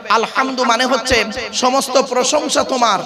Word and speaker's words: আলহামদু: উচ্চারণটা ঠিক করুন আলহামদু গলার ভেতর থেকে হেটা উচ্চারণ করবেন আলহামদু মানে হচ্ছে সমস্ত প্রশংসা তোমার আল্লাহর সমস্ত প্রশংসা আল্লাহর আর আমরা কি বলি উচ্চারণ করতে গিয়ে আলহামদু এর মানে শুনবেন সমস্ত